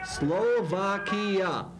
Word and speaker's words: Slovakia: all say it together Slovakia that's how many syllables Slovakia four syllables Slovakia all right something's